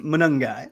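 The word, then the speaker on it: Monangai: What if Kyle Manung guy who's a running manung guy is I think I think you got the syllables right. Just Manung guy.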